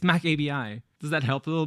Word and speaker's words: macabi: I have no idea so it's not maab I said it wrong on purpose to be funny it's Mac ABI does that help a